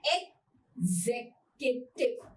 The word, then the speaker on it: executive: क्या बोलना है, एग, इसको एक्स को नहीं बोलना, आपने बोलना है एग्जीक्यूटिव, राइट, एग्जीक्यूटिव, एग्जीक्यूटिव।